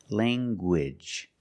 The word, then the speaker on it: language: You have the nasal sound, lang, and the hard g. Gwidge. Language.